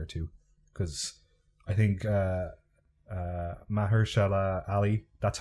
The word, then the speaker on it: Mahershala Ali: And I'm looking forward to rewatching season 3 in a year or two, because I think Mahershala Ali, that's how you pronounce his name.